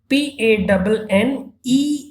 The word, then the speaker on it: panneaux: and its plural becomes signs, that is panu. Pronunciation remains the same, PANNEAUX, and we use definite article plural, that is lay in front of you.